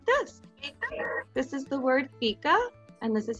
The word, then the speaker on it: fika: This is the word fika, and this is how you pronounce it.